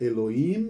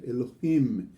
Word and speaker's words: Elohim: como você tá percebendo a palavra Elohim não é Eloim nem Elohim Elohim esse essa pronúncia do